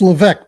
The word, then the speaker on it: Leveque: It's Leveque, by the way. So it's that French thing that gets in the way all the time.